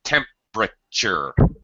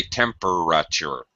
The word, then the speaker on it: temperature: it's a drop syllable same thing happens with temperature notice i don't say temperature i don't pronounce four syllables just three temperatures there you go